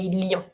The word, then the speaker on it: Lyon: Careful with the pronunciation on this one. We say Lyon.